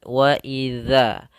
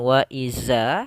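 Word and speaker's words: وَإِذَا: Untuk kata "dhal," ujung lidah diletakkan menempel pada gigi seri atas sehingga bunyinya "waidza," bukan "waiza." Jika itu "za," maka tidak akan diletakkan di sana.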